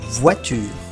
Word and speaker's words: voiture: O más I es igual a UA. UA. Como si en español tuviéramos escrito UA. UA. Por ejemplo, une voiture. Un coche. Une voiture.